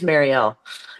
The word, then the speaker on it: Mariel: It is Marielle and I'm too too shy to do it.